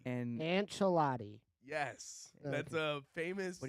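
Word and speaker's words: Ancelotti: you read anela's name and say it correctly an chelotti and an chelotti yes that's a famous what he say can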